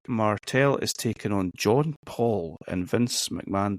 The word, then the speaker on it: Paul: Okay, Rick Martel is taking on John Paul, and Vince McMahon does not know how to pronounce the word Paul. He keeps calling him John Powell until about halfway through.